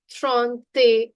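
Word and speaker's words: trente: It's going to be 30 tr a in the middle and a pronunciation trant.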